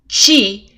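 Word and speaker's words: ち: And that is because these 2 characters are not pronounced T and Tu, but Chi and Tsu.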